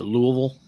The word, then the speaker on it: Louisville: I believe he's going to Louisville for one of the shows this weekend. John, we're in the South. You have to pronounce it correctly. It's Louisville.